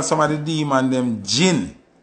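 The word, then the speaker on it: jin: of the demon them gin spell j i n but it pronounce g i n just like the liquor we drink you understand say so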